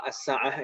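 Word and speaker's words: الساعة: di atas Diva kesan ini bacanya Asa atau sim-nya panjang oleh jangan sampai dibaca pendek as saat antara maknanya berbeda kalau as-sa'ah itu harusnya kelapangan untuk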